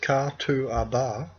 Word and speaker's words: Catuaba: The name Katuaba, pronounced Katuaba, a Guarani word that means what gives